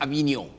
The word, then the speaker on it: Avignon: This word is pronounced Avignon.